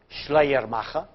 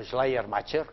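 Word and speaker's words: Schleiermacher: De textos religiosos hasta que llegamos a un autor del 19 alemán, Schleer Macha o Schleermcher, como queráis pronunciar.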